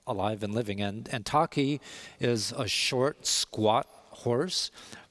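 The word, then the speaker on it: takhi: yeah and it's called the return of the taki is it correct pronunciation yeah the last feral horse yes so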